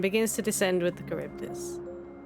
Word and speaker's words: Charybdis: It was Charybdis, okay, I did pronounce it correctly.